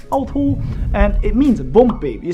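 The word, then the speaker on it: 凹凸: It's pronounced autu, autu, autu, and it means bumpy.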